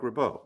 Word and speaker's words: Ribot: Mark rabau ribi rib I think it's pronounced rabau I could be wrong you're probably right it's Mark rabau yeah new uh great